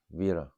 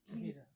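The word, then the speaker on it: vīra: Veera. V-I-R-A. How do you say that? Veera.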